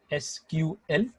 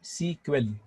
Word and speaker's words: SQL: इट is pronounced as एसक्यूएल और सीक्वेल. both are right, depends upon environment to environment. Both are equally agreed.